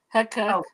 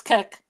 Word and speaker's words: Kek: That's Kek. Kek. pronounced like you're laughing, but it looks too much like Peppy the Frog meme.